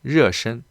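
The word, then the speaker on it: 热身: 조금 몸을 热身 좀 데울 필요가 있습니다. 이 글자도 상당히 특이하죠, 여러분. 이 글자 르 이렇게 발음합니다.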